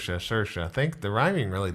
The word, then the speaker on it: Saoirse: Rhymes with inertia. Saoirse.